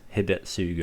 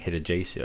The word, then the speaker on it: Hidetsugu: Which I heard the correct pronunciation for this Hidetsugu. I was saying Hidejesu, I think.